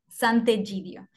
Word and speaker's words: Sant'Egidio: Is a S-A-N-T apostrophe E-G-I-D-I-O, and pronounced Sant'Egidio.